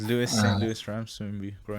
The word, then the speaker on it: Louis: as opposed to the saint louis ramses or lois i'm not sure how it's actually pronounced yes lewis lewis but uh we i